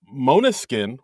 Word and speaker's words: Måneskin: about uh this week's episode uh musical guest Monuskin, which I just found out is how you pronounce it, right?